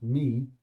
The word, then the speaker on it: my: So, I'm off up the apples to see my, although the word my would be pronounced as me, Uncle Ted.